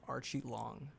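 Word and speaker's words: Aoriqileng: opponent's name is pronounced Archie Long.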